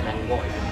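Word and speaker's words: lángos: So after the written Langos but pronounced Langoi.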